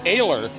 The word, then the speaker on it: Ayler: In the number 74, that's Jason Ayler is actually how it's pronounced. We had that wrong too, or I did.